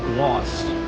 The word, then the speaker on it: Glace: So this kind of cart that you see right here, Glace, is actually pronounced gloss.